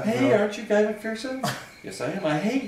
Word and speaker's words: McPherson: Technically, as is pointed out to me all the time when I run into people from Scotland, it's pronounced McPherson. But I heard it my whole life, McPherson, McShut the Fuck Upson, all kinds of things. So I But what is it? It's McPherson.